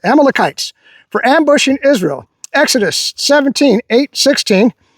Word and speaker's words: Amalekites: Amalekites, that's how you pronounce it, Amalekites, for ambushing Israel.